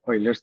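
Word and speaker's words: Euler: is e e the ulers's number some people pronounce it as oiler's But but I do Indian pronunciation not real pronunciation.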